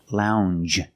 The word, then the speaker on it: lounge: as orange and change it's a regular n plus the soft J sound Lounge a lounge is a